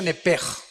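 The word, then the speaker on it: נֶפֶשׁ: Apúntala como suena nepesh con sh se pronuncia nepej.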